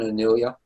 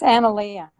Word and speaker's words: Analea: Is that correct pronunciation, Anelia? Yeah. It's Analea.